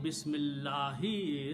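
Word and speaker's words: بِسْمِ اللَّهِ: And then you read together. Don't pronounce alif. Bismillahi.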